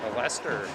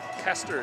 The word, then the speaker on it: Kester: Kester is how you say that last name. I'm sorry. Number 6 for Alberta. Kester.